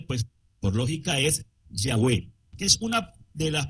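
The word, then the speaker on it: Yahweh: Nuestra pronunciación de este nombre, pues por lógica es Yahweé, que es una de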